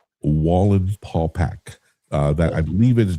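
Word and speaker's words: Wallenpaupack: in the Poconos on a lake called Lake Wallen Paulac took me a long time to be able to pronounce that right right wall and Paul back you can look it up it's the biggest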